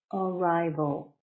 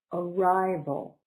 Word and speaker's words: arrival: plane arrival is noun arrival three syllables stress is on the second one arrival so all up right